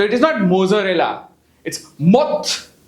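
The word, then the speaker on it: mozzarella: what is इट मोरेला so what is इट मोजरेला cheese मोजरेला cheese same goes for पिज सो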